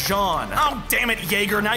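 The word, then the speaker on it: Jean: are distracted by our friends screams of agony gene you're a genius ha thank you me but it's pronounced john oh damn it jaeger now you've got me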